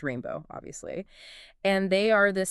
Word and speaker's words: R41NB0W: And GR33N acts as the arranger for a group called R41 NB0W which is pronounced rainbow obviously.